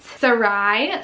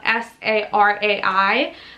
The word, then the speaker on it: Sarai: I love the way that it's spelled S-A-R-A-I, like Sarai.